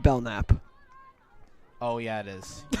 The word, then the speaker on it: Belknap: I believe it is pronounced Belknap.